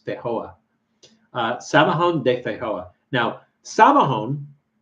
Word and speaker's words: Feijoa: I'm trying to pronounce it like Brazilian, and it's not. I mean Portuguese, but it's not Portuguese. It's Spanish, so it says Feijoa.